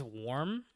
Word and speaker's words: worm: It's spelled WORM, but the way we pronounce it is warm. But WARM is warm.